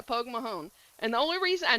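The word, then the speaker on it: póg mo thóin: Poke Mahone. That That's how you say it. Well, you probably say it with a little bit thing. I'm saying it with a southern accent, but uh yeah, Pog Mahon.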